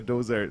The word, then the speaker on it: Doughzart: I say Doughzart, and they go, "I bet you it's spelled with the Z." And I was like, Yeah, of course. yeah, Like it is Mozart.